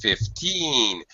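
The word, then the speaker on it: fifteen: As opposed to 15, where teen, the second syllable is stressed, it's much higher, and this vowel sound is stretched out.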